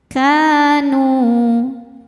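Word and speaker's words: كانوا: Kanu nu hukumnya mad thobi'i zohiri sebab ada wau sukun sebelumnya berharakat dommah. Cara bacanya panjang dua harakat.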